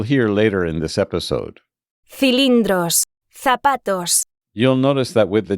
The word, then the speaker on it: cilindros: Cilindros, zapatos. You'll notice that with the distinction category, the letters C and Z sound very different from the letter S.